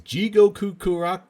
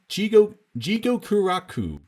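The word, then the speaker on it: 地獄楽: get out of sequels jigo kukuro jigo kuraku jigo kuraku okay I was like for some reason I saw more syllables in that word than there actually were and it was very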